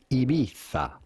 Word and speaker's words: Ibiza: The Z in Spanish is pronounced with your tongue between your teeth, so a little bit like the English the. Ibiza.